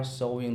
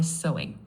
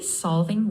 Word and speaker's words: solving: Try solving sounded a little like try sewing. Say solving with a clear V sound.